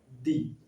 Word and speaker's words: the: तो द का उच्चारण कैसे करेंगे? दी, ठीक है। दी इंड। यहाँ देखिए ऑनेस्ट, तो ऑनेस्ट क्या है? उच्चारण किससे हो रहा है? अ से हो रहा है, ये वोवेल साउंड है तो इसका उच्चारण अ से हो रहा है, इसलिए द का उच्चारण क्या हो जाएगा? दी हो जाएगा, ठीक है।